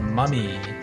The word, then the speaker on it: mummy: comes from ancient egypt it's called a mummy not like a mother for a mother it's a oh mommy but this is